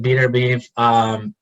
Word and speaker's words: Beterbiev: You pronounce it Beterbiev.